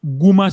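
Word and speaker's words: gumma: now in syphilis in syphilis you will see guma cells g-u-m-m-a guma cells in syphilis you will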